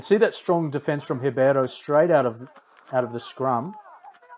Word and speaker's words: Ribeiro: And what we would normally pronounce as Ribeiro in Spanish, in Portuguese is Ribeiro.